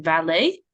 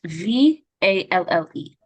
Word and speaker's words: Valle: Valet. It's Valle.